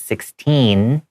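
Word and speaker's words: sixteen: So to make it different, you have to say for 16, it's 16. I have that N sound at the end, and that T is hard.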